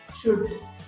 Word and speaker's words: should: नहीं किया जाता है, ल वहां पे साइलेंट होता है, तो फिर वुल्ड शुड कुड ऐसे नहीं कहना चाहिए, क्या करना चाहिए, कुड शुड वुड, इस तरह से कहना चाहिए।